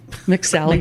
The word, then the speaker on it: McSally: McSally. McSally McMahon. It rhymes with rally.